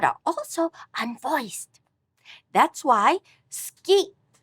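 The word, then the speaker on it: スキー: That's why ski is pronounced with an unvoiced u.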